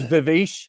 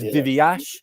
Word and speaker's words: Viveash: I mean, I also have to tell you, you are the player with the most mispronounced names I've ever experienced in a football ground. Yeah. It's Viveash, it's Viveash, it's Viveash.